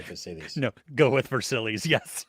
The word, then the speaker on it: Versailles: Versailles. Um sure. Yeah, that's how you say it. Actually, that would be the correct way to say it. So, we'll we'll say Versil.